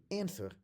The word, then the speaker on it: answer: And this ancestor of a modern word is the reason why it's written with a W, even though it's not pronounced. So when someone gives you an answer in English or in